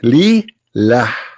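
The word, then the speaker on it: لله: The first one pronounced as Allah. The second one it says Lillah. Okay, so what we have now?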